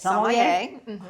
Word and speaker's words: sommelier: And it's I hear a little variance here and there, but sommelier.